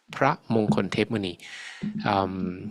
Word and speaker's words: พระมงคลเทพมุนี: about is พระมงคลเทพมุนี That's how his name is pronounced, พระมงคลเทพมุนี.